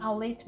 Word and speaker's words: Aulet: No dia 5 de maio de 1983, Eduardo Aulet, se pronuncia assim Aulet mesmo porque é de origem espanhola, talvez catalana.